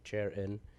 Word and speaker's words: Charan: We pronounce my name like Charan, and Carmel's Carmel, and not caramel. Pretty much that's it.